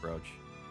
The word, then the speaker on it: brooch: So, it is still pronounced brooch.